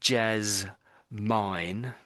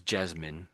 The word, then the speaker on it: Jasmine: So you said Jazz Mine, which is how it looks, but it's most people say it as Jasmine.